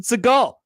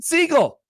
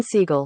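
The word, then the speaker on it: Segel: His name is not Jason Segal. It's Jason Siegel. Jason Siegel. Oh, interesting. Where'd that come from, Josh? Google. Now, if you'd like to hear it straight from Jason Siegel's mouth, I also have that as well.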